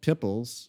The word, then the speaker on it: PPLS: I have another project called pipples which is spelled ppls but that's with Michelle